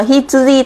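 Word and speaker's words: 羊: Ví dụ chữ này A đứng một mình nó đọc là Hitsuji, tức là con cừu, ok.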